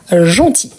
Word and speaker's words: gentil: on a gentil gentil vous voyez qu'on a le l à la fin mais on est le prononce pas donc on a gentil c'est la même chose que outil donc gentil le féminin